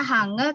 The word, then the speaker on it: 한글: Tulisannya Hangul tapi dibacanya Hangul, 여러분.